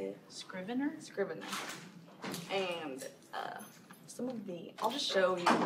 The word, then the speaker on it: Scrivener: Scrivener.